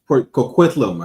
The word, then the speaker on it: Coquitlam: family of pig farmers in Port, how you pronounce that city? Port Coquitlam, I think.